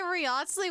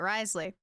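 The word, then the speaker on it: Wriothesley: A free Riotsley waste of a pull? What do you mean a free Riotsley? Risley. I need to say his name right. Risley.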